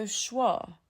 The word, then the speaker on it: schwa: It's the neutral little uh in the middle of your mouth, and most learners have never studied it because it doesn't belong to any letter.